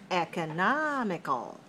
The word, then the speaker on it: economical: stress it's different because for economy it's stressed on the second syllable but for economical it's dressed in the third syllable all right so what